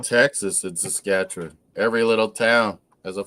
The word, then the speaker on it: Saskatchewan: We're like Texas in Saskatchewan.